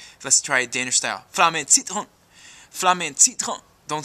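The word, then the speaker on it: Flammen & Citronen: Flamme Citron. Flamme Citron. Don't say the R and don't say the N, you know, as many syllables as you can gobble up.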